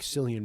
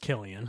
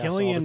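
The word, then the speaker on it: Cillian: Um, I mean I guess by this point like Silian Murphy is definitely No, I'm saying Sillian because that's funnier, but it's pronounced Killian.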